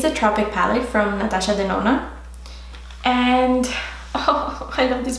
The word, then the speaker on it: Natasha Denona: Like I've been saying Natasha the no instead of the na. For some reason, every time I hear people pronouncing her last name, I don't know, in my head I hear Natasha the no. But it's Natasha the na.